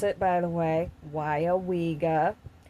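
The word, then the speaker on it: Weyauwega: That's how you pronounce it, by the way. Weyawega. Weyawega, okay?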